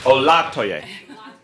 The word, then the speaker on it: Olatoye: Second syllable, Olatoye.